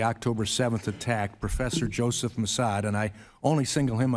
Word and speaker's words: Massad: It's M-A-S-S-A-D, but it's pronounced Massad.